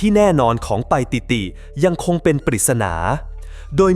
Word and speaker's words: ไปติติ: ธง คำ ไป ติด หรือ บาง ออก เสียง ว่า ป้าย ยิติ หรือ ปา อิติ เป็น ต้น ตำแหน่ง ที่ แน่ นอน ของ ไป ติติ ยัง คง เป็น ปริศนา